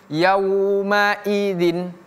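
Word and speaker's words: يومئذ: Di sini i-nya harus kita baca dengan jelas. Yaumai. Jangan kita baca yaumai mayi tapi mai yaumaidzin yaumaidzin seperti itu ya wailuyumaidin 1 2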